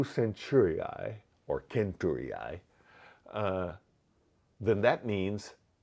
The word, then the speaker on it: centuriae: Centuriae. There's no soft C in Latin, so centuriae.